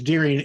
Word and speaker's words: Deering: But it's like my last name is Deering, and I'll have people spell it, and I'll say, it's like the animal with ing, and they'll go, "Oh, you mean DEAR?"